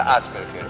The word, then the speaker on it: Asperger: aser Asperger ya el Asperger es un se pronuncia Asperger sí síndrome de Asperger Okay que es más